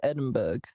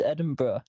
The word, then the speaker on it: Edinburgh: a fortnight costume uh why are you saying it Edinburgh how do you say it it's Edinburgh Adam Edinburgh yeah well it looks like Berg in U.S oh geez the UK